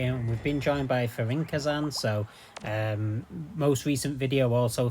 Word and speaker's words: Fürinkazan: say it, and so it's apparently Fürinkazan. But I'm not going to do the accent, obviously. I'm a northerner from England, so yeah, it's Fürinkazan.